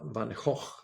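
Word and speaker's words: Van Gogh: So maybe I should pronounce it better. Van Hawk, Van Hawk, the famous Dutch painter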